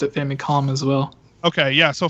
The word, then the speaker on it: Famicom: don't I don't know pronounced it famicom it's an M because it's short for family computer right right I've always pronounced it famcom as well okay yeah